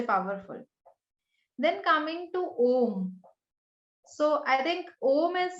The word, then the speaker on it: Om: came in the universe was Om, and it has like three syllables. So A represents the waking state or the beginning. U represents the dream state or the middle, and M states the deep sleep state or the end in the causal transcendental region.